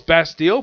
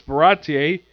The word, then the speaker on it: Baratie: I thought it was Bastille, but it's Baratie.